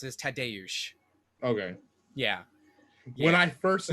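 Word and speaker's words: Tadeusz: or tadius but the the proper way to pronounce it is tadayush okay yeah when i first listened to the podcast i thought his name was thad tagged which maybe which made me think of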